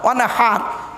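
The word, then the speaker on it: وَانْحَرْ: ফাসাল্লি লিরাব্বিকা ওয়ানহার, কি বললাম? ফাসাল্লি লিরাব্বিকা ওয়ানহার, উচ্চারণটা ঠিক রাখুন। ওয়ানহার, ওয়ানহার নয়, ওয়ানহার। এই গলার ভেতর থেকে এটা উচ্চারণ করবেন, ফাসাল্লি লিরাব্বিকা ওয়ানহার।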